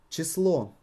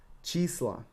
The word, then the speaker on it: число: Число, number, число. Числа, число, числа. You need to stretch and raise your voice on the emphasized letter.